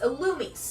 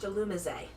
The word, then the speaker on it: Alumis: It's alumis. Yes. Because they're trying to say that it's supposed to be pronounced alumise. Mhm. No, it is alumis.